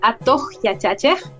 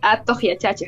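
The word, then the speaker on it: Atuq Yachachiq: La página la pueden encontrar en Facebook o en Instagram como Atohyachache, que se escribe diferente a como se escucha. Se escribe A-T-U-Q, espacio, Y-A-C-H-A-C-H-I-Q, Atohyachache, ¿no?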